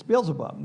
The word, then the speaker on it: Beelzebub: We talked about this last time, that actually the word is Beelzebub, which is, it's Beelzebub.